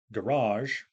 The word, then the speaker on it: garage: others aren't for example the noun garage uh has stress on the second syllable while the verb pamper